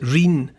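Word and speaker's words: rhyne: world are called Rings the word is spelled like the river Rhine but they pronounce it rain that part of Somerset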